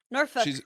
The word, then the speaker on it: Norfolk: I'm joined by Scrapclaw, newly in from Norfolk, what is it? Lythian, how is it? Oh, I'm Norfolk. not doing it. Somewhere in Virginia. Norfolk, that's how you pronounce it.